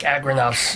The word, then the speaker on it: Agranoff: It's like like agribusiness, Noff, AGRANOFF. So there's only one O in there.